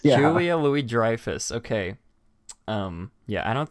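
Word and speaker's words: Louis-Dreyfus: long horrid dresser name is that how it's pronounced Julia Louie Dreyfus yeah Louie Dreyfus okay um yeah I don't think I'd be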